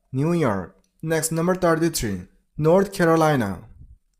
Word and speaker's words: New York: And it's New York. Stress on the last syllable. New York.